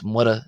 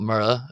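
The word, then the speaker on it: Muire: Not Mura. Again, here we can see this other slender R. You would think that's pronounced Mura if you're speaking in English, but it's actually Gia, Gia is, which is a form of the word and.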